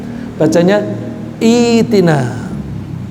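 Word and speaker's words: ائْتِنَا: Tapi kalau kita mulai dari iktina bacanya bukanina bacanya itina.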